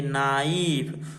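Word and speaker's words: knife: के आया है तो के को क्यों नहीं पढ़े मालूम है यहां पर जो के है ई यहां पर चुपचाप बस बैठा है बस ये काउंट होता है मीनिंग में स्पेलिंग में बस स्पेलिंग में बस काउंट होता इसको पढ़ते नहीं है ठीक है इसको पढ़ते नहीं बस स्पेलिंग में काउंट होगा बाकी जो पढ़ेंगे यहां से पढ़ेंगे नाइफ नाइफ मीस क्या होता है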